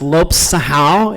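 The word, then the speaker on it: Lopes-Serrão: So my last name is pronounced Lopes-Serrao. It's Portuguese, so the two R's together make an H sound in English.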